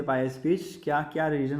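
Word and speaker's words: coup: तो उन्होंने क्या किया, ज़बरदस्ती यहाँ पर म्यांमार को हड़प लिया। एक मिलिट्री कू आया, ठीक है, मिलिट्री कूप नहीं बोलिएगा, इसको कू बोलते हैं, मिलिट्री कू, पी साइलेंट रहता है इसमें।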